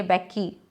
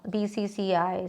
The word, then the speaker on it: BCCI: Like we cannot say Becky, no, BCCI, CNG, we don't say Singe, no, CNG.